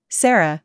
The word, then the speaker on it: Sarah: Sarah and Dora Kain Sarah because it's a traditional Japanese name with no real significance worth mentioning none it just sounds like the Western name Sarah the way my parents